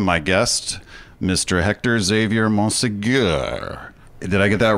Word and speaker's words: Monsegur: do you say it I just say mon Seager mon Seager like Bo like Bob Seager yeah what would you